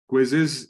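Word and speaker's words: Quizizz: How many of you have heard about this platform Quiz? Quizzes is the right pronunciation.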